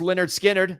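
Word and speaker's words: Lynyrd Skynyrd: lead singer former lead singer now deceased of Leonard skinnard a lot of I was wondering how you pronounce that it's pronounced Leonard skinnard the the debut album is is what this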